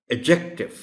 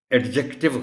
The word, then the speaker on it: adjective: इस वर्ड में D silent है और इसको बोला जाएगा एडजेक्टिव। एडजेक्टिव गलत होगा।